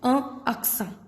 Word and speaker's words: accent: We'll take one more example, that is aksa. Aksa means accent. Aksa. Again, here we are ending the pronunciation here only on N. So, T is silent.